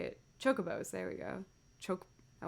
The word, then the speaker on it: Chocobo: to do with airships in calvary chickens called chibok oh my gosh why am i doing how to say it chocobos there we go choke i wanted to like